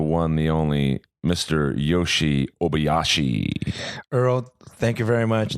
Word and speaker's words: Obayashi: Obayashi. Obayashi.